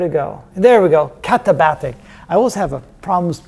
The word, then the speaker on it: katabatic: They're called the Katabaka, or what's it called? I always forget the name. I had to write it down somewhere. Where'd it go? There we go, katabatic.